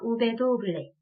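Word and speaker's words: uve doble: 그 다음은 우베가 더블로 있다라고 해서 우베 도블레 라는 명칭을 가지고 있는 알파벳이 되겠습니다. 같이 해볼까요? 우베 도블레. 얘는 도블레 우베라고 하기도 하고요.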